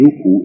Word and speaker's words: NoopooH: For the benefit of the listening audience and the reading public likewise, the name NoopooH is spelled N-O-O-P-O-O-H and pronounced Noopoo. The H is silent and capitalized.